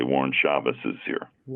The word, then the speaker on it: Shabazz: Uh the the way my grandfather uh pronounced it was like the Z was like an S, Shabazz. Shabazz, interesting.